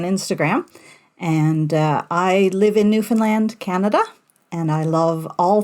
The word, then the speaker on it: Newfoundland: It's Newfoundland, so it rhymes with understand. Okay, because I always go Newfoundland.